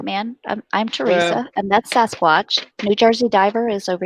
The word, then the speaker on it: Sasquatch: not sit correctly that Sasquatch not Sam Sam is a good guy I'm from it planta Canada so we pronounce it Sam scratch okay never seemed really